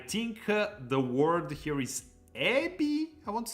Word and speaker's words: エビ: the word here is ebi, I want to say. エビ Ebi. Ebi, the pronunciation. We have to watch out. It's ebi, not ebi. Ebi. Ebi. The accent is on the last syllable.